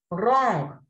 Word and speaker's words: wrong: Wrong. We don't pronounce W. It is silent.